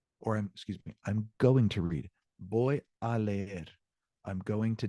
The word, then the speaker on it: voy: I'm going to read, voy a leer, I'm going to dance, voy a bailar. And it's pronounced boy like B-O-Y. Boy, the V and the B have the same exact pronunciation.